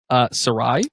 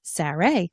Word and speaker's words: Sarai: Sarai. Sarai.